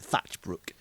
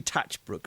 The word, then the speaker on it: Tatchbrook: I remember Jess sending the question because when I first pronounced it, I think I pronounced it with an extra H. And I pronounced it Thatchbrook. But it's definitely Tatchbrook.